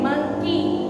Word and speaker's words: monkey: जैसे मंकी, तो हम मंकी में वाई को हम ज्यादा जोर से बोलते नहीं है, हम ई पे ही उसको बोलते हैं मंकी.